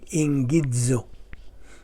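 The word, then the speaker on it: ἐγγίζω: Now, i-pronounce kini og ingidzo.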